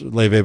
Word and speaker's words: Laufey: Leve, pronounced Leve, but spelled Laufey, the Icelandic American singer on the Olympics on the short programs.